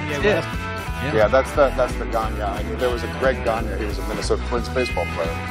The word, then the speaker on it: Gagne: The G's, it's pronounced like a N-Y-A. G-A-G-N-E, right? Yeah. Yeah, that's the Ganya.